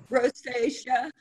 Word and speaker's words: rosacea: How about this one, Sharon, the taming, how do you pronounce this? Rosacea? Rosacea.